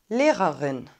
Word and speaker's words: Lehrerin: lehrerin lehrerin näherin lehrerin das l wird hell ausgesprochen manche sagen auch weich also und nicht dann haben wir ein langes geschlossenes und wahrscheinlich finden einige es schwierig die beiden er laute so kurz hintereinander zu sprechen unsere lehrerin kommt immer